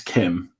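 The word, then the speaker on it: Kh'ymm: It's like it's Kim, but how it's typed is KH''YMM.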